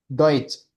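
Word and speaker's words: Deutsch: इसके बाद है हमारे पास टी एस सी एच, ठीक है, ये कम वर्ड्स हैं लेकिन इसकी साउंड होती है च की, चे, ठीक है, च, डॉइच, डॉइच, ठीक है, डॉइच, ये दोनों गुड।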